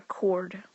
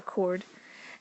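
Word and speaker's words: chord: diameter it's called a cord and it has an H in it but the H is silent that's called a cord and there's some other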